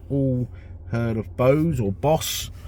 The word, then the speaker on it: Bose: I think we've all heard of BOSE or BOSE. I think the founder's name was Chandra Bose, so I suppose BOSE is the correct way of pronouncing it.